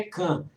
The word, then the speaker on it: Caen: Eu não sei dizer corretamente, é Caen, mas a pronúncia parece que é Cannes.